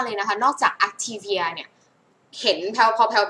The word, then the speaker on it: Activia: activia activia นะ คะ อ่ะ ออก เสียง ว่า อั activia activia นะ คะ มัน เสียง อั นะ คะ activia activia แต่ ของ